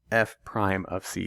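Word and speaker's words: f′(c): of you who aren't watching the video right pronounced F prime of C it's that same function notation F of something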